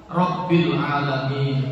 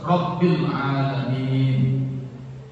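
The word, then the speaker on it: رب العالمين: Rabbil itu kan Rabb Tuhan tentang kebesaran. Tapi kalau kamu bacanya RIL sudah bukan kebesaran Tuhan lagi. Beda artinya. Nah, itu tidak rabil alamin.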